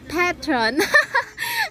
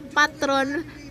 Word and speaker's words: Petron: Petron peton petron ewan ko basta may pronunciation diyan hindi siya patron petron ganon bahala na kayo